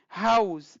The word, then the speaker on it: house: هاوس دا اس زی غوندې تلفظ کېږي.